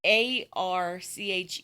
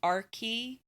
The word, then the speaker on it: Archie: deal about how the a rch e was based on the Greek word and the Greek word is pronounced R key it's not what the